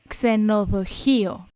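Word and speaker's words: ξενοδοχείο: Ksenoðoʻçio.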